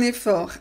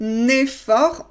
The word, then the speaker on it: effort: Fais un effort. Impératif du verbe faire. Fais un effort. On révise encore les liaisons. Un effort. On ne prononce pas le T final.